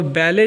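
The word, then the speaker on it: ballet: Wrong में W silent है और बैले जो है बैले में टी साइलेंट है।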